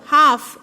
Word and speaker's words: half: 4, half, L is used, L letter is silent.